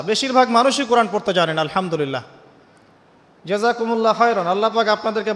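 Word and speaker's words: الحمد لله: এইতো আপনি পড়ছেন আলহামদুলিল্লাহ। শব্দটা কি? আলহামদুলিল্লাহ। এই হা এর মাখরাজ কোথায়? হা এর মাখরাজ কোথায়? বলেন একজন কন্ঠনালীর মাঝখান থেকে।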